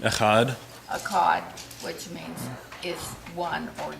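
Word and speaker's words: echad: Daniel a c h o d a HUD akad which means is one or Unity and then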